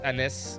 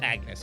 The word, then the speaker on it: Agnes: So I'm gonna say, I know it's she's not pronouncing the G. It's Anis or Anis, right? Or she's saying the G very soft, but it's Agnes, all right?